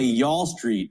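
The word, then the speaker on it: Y'all Street: But if you say Yall Street, I think that makes it cool. And it makes sense because it rhymes with Wall Street.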